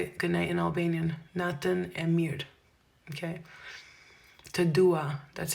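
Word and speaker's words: Natën e mirë: Nathan Emir.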